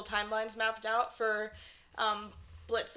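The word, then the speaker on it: Blitzø: he introduces himself as Blitz the O is silent so people know who he is MH people would know him as blitzo yeah that's why like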